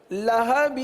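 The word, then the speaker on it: لهب: لام زبر لا، ہا زبر ہا، لہا. با واو دو زیر، بیوں بیوں. کیا پڑھیں گے؟ لہبیوں لہبیوں. تبت یدا ابی لہبیوں.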